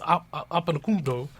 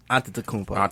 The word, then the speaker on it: Antetokounmpo: The Greek one is Antetokounmpo.